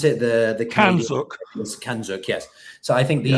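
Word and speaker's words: CANZUK: Kanozuk, or how do you pronounce it? The Kanzuk. Kanzuk, yes.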